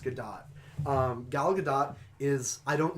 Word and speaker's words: Gadot: or gallica dot sorry I always try and say Godot but it's actually pronounced good dot gal gadot is I